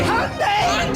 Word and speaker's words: Hyundai: It's Hyundai, like Sunday. Yeah, like literally no native English speaker would believe Hyundai actually rhymes with Sunday with the way it's spelt.